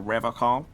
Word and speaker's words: Revachol: But someone has to stay strong for Revachol. He pronounces Revachol with a hard K, unlike other people.